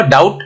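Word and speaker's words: doubt: तो यहाँ पे हम बी को हटा दिए तो यहाँ पे क्या हुआ? डाउट, यहाँ पे बी साइलेंट हो गया।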